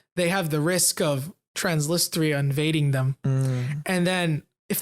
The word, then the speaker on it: Transnistria: This area is called Transnistria.